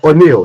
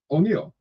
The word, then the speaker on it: O'Neal: okay yes I like the fact that you pronounce my name correctly O'Neal so so I have a new Chinese investor